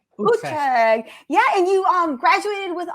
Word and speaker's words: Utrecht: And is it, how do we pronounce it? Utrecht? it's Utrecht. Utrecht.